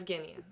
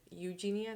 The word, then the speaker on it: Evgenia: Evgenia. Okay. Mhm. I Before I was thinking it Eugenia, no, Evgenia, no, Evgenia. Well done.